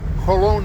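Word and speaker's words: Jolón: It's spelled Spanish, Jolon.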